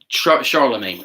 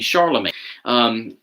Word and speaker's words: Charlemagne: to double check something I'm sorry Charlamagne I knew I had that name wrong not Constantine Charlemagne Charlemagne in the 700s it is